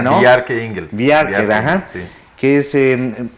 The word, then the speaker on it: Bjarke Ingels: Bueno, es una charla sobre sostenibilidad urbana y donde va a estar presente el arquitecto danés Bjarke Ingels, así se pronuncia, ¿no? Bjarke Ingels.